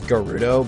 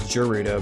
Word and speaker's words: Gerudo: always pronounced it as jurita because in it like a soft G like English actually works instead of like the the Japanese pronunciation would always have Japanese always has hard G so I'm gonna run